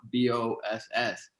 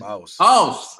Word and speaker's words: Bauce: still spell it out Boss. And I'm like, no, it's not boss. It's Bauce.